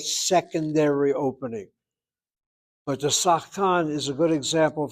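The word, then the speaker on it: שחקן: And that word sachkan sometimes is pronounced, the shvanachanitachet is opened up, so it's pronounced as sachakan. So you might find a pronunciation as sachakan, and if so, then the shvanach lost its silence and opened up.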